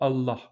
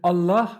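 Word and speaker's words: الله: Donc essayez de faire un L normal et essayez de replier le bout de votre langue contre votre palais. Le L va se transformer en L, d'accord? C'est ce son-là qu'on a dans Allah.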